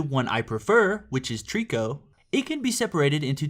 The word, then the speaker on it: Trico: And no, not like the Pokemon. It's spelled Trico. But it's also known as another name, which can be confusing. I just call it Trico because it has less syllables, which I guess means I'm lazy. But the other name that it is known by is Toriko, which is pretty similar to Trico, just with an extra O in there, but they have completely different meanings.